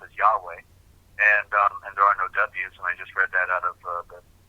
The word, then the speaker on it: Yahweh: more primitive, or Yahweh, who the name is pronounced as Yahweh, and there are no W's, and I just read that out of the dictionary from the 1700s by Johnson.